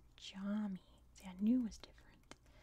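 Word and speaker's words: cami: English what a concept the most challenging letter is C which is pronounced like an English J that's why it was pronounced like a j for example the word for mosque is pronounced Jami see I knew was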